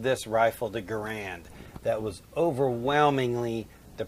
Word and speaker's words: Garand: So I would argue when talking about the man, you would say John Garand, because Garand is clearly how he pronounced his name.